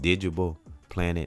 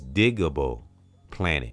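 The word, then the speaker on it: Digable Planets: So and it's if I'm not mistaken, it's digable planet. And I think I said digible because it's it's digable.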